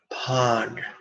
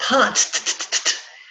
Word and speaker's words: Pad: The 4 syllables are Om, Mani, Pod. Remember, it's not pod, it's pod, da, da, da, da, da. Not like tack, but like dog.